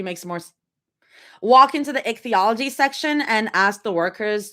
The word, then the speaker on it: ichthyology: I feel like ichthyology makes more walk into the ichthyology section and ask the workers to let us see the sharks.